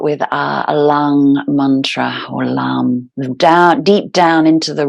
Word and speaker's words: LAM: Mantra three times so the first Mantra is LAM l-a-m but it's when you kind of sound